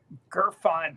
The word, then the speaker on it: Gurfein: Gerine, like real fine. Gerine, man, I should have figured that out.